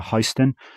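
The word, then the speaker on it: HSTN: I've learned how to pronounce it. Oakley Meta Histen, which people have just started receiving the limited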